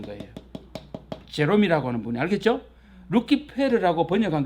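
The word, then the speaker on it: Lucifer: 이게 라틴어로 읽으면 뭐래요? 시작. 루키페르라고 읽습니다.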